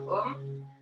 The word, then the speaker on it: Om: est le son universel, qui s'écrit A-U-M. Tu laisseras bien vibrer le A au niveau des organes génitaux, le U dans ton ventre, ta poitrine, et le M dans ta tête.